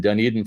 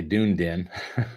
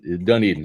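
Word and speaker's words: Dunedin: live for sure and dun Eden Florida or as my late stepdad used to say dun Den which was funny always crack me up as a kid but done eeden I know how to say it Bill Vincent prepping thanks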